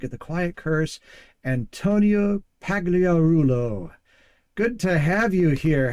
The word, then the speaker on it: Pagliarulo: Well, the true pronunciation, the G really is silent, so Uh-huh. you pronounce it Pagliarulo, but Ah. here in the States, it's always pronounced Pagliarulo.